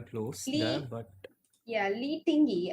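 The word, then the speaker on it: Lei Tingjie: I'm not sure if my pronunciation is anywhere close there, Lee, but yeah, Lee Tingy, I think Li Tingi, yeah. is the way to pronounce her name.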